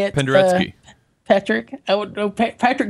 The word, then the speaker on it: Penderecki: Penderecki. Patrick? I don't know. Patrick just gets all crazy with the pronouncing this name.